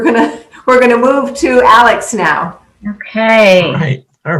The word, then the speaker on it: Alyx: everyone um as chris mentioned my name is alex as you can tell from my little um square on our zoom it's spelled a l y x um so i